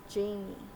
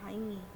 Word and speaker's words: Jaime: of them Blue Beetle uh Zolo is playing Jamie or I pronounce it Jamie because that's the way I